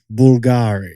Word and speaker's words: Bulgari: Bulgari the fashion brand how is it really pronounced it's Bulgari Nick Bulgari Jack what about Ikea the furniture brand how's